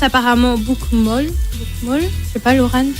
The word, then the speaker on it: bokmål: livre qu'on prononce apparemment bokmål. Bokmål, je sais pas, Laurent. Mais il faut voir comment il est écrit. Ça s'écrit B-O-K-M-A avec un petit accent et puis L. Alors ça se dit bokmål.